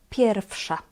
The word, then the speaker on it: pierwsza: Here the "w" we pronounce as "f". "Jest pierwsza."